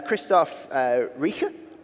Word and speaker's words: Christoph Rieche: And Christoph Rieche.